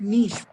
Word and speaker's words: Nietzsche: Friedrich Nietzsche. Pronounce it Nietzsche.